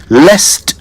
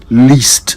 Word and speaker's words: lest: So it's lest I forget not least I forget. That is how you say it right.